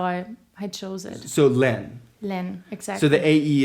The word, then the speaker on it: LÆN: How do we pronounce it right? It's Len.